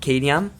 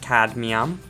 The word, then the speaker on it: cadmium: I pronounce it cadmium. I pronounce things weird. You're going to notice that a little bit. But it is, I think, pronounced cadmium ore. I always pronounce it wrong.